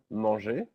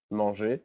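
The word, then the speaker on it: manger: all the verbs that end with the letters er which is pronounced e so for example the verb monge monge which means to eat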